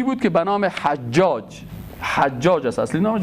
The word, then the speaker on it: حجاج: که به نام حجاج، حجاج است اصلی نامش، بعضی ها حجاج غلط تلفظ میکنن، حجاج است که ای ایره رواج داده بود و دیگه تجلیل گپا میکردن.